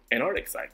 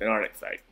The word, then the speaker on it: Antarcticite: At first, I could not pronounce that for nothing, but someone helped me like say Antarctic, now say site, Antarcticite. Yeah, that's pretty much what it is, Antarcticite.